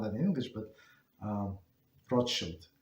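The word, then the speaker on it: Rothschild: So that's uh that's how they pronounce rod shield and that's how they they pronounce in European not that in English but um roshield not roth child.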